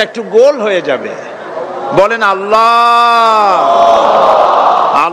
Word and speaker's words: আল্লাহ: আল্লাহ আল্লাহ পাকের উচ্চারণটা হচ্ছে আল্লাহ পাকের নামের উচ্চারণ হচ্ছে আল্লাহ মুখটা একটু গোল হয়ে যাবে বলেন আল্লাহ আল্লাহ সুবহানাল্লাহ পৃথিবীতে বিভিন্ন জাতি তার